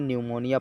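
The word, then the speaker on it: pneumonia: उल्टी साइलेंट रहेगा क्योंकि इसे न्यूमोनिया पढ़ा जाएगा तीनों मियां नहीं पढ़ा जाएगा आप इन आंवलों पड़ने लगते हैं तो इसे पीस पीस साइलेंट करके न्यूमोनिया पड़ जाएगा इसी तरह साइकोलोजी यहां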